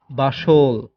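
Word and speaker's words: bustle: Rules number 22, শব্দে এসটিএল এর উচ্চারণ হয় সল। এখানে টি অনুচ্চারিত থাকে। যেমন আপনারা উদাহরণ দেখলে বুঝতে পারবেন। বাসল, অতিশয় কর্মব্যস্ত, বাসল।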